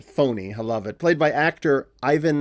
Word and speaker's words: Fournier: She's riding with Alexis Fournier (pronounced "foe-nay", haha) played by actor Ivan Lebedeff and they're driving off together to get married.